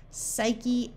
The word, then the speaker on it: psyche: beginning of a word if you have p s p n or PT the p is silent like in the word Psalm pneumatic pterodactyl psyche or pneumonia P and